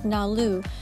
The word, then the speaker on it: NALU: Number 76 in Japanese can be pronounced as NALU.